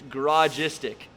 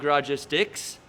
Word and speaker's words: Garagistic: It's basically garage and istic together.